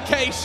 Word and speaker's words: Cache: I think you call it Keish, is that right? Okay, right, it's going to be Keish, and we're going to see if TyLoo can weather the storm of FaZe Clan.